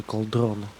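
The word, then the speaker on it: Cauldron: Как правильно? Колдрон или Колдрон? Как у них там ударение это идет? Как по-англичански-то правильно будет? Наверное, на первый слог.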